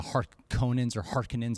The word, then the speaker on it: Harkonnen: And then you got the Harkonnens. I hear two different pronunciations. Right, G. What is it? Is it Harkonnens? I think Harkonnen is what people agree upon.